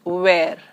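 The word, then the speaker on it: vert: in French is well T as a consonant in the end is not pronounced it is where and in feminine it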